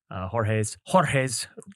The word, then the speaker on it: Jorge: We'll put a link to it down below on this podcast to attend Jorge's webinar, September 20th. You gotta roll your R, bro. Jorge.